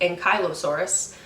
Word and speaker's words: Ankylosaurus: Some of the most famous dinosaurs that we found in Alberta and Saskatchewan include Ankylosaurus, which is sometimes pronounced Ankylosaurus, and T-Rex.